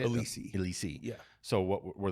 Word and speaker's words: Elisi: Elisi.